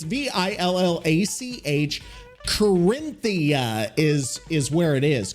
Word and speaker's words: Villach: It's not village. It's Villach.